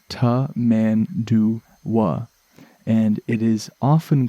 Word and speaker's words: Tamandua: say them all quite properly but it is pronounced ta man do and it is often called as well a